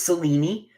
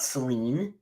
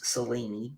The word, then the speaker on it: Selene: No, it's Cellini or Selene. It is not Celine. It is Selene or Cellini. Is the Greek pronunciation. 3 syllables.